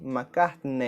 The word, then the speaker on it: McCartney: the original pronunciation, but at the end of the word we have the letters EY which in Portuguese has the sound of “ei”. McCartney.